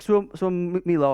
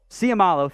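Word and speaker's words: Seumalo: Isaac Suamilo, I botched that one. Siamalo, thank you, Jeremy.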